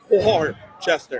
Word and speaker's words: Worcester: So Worcester.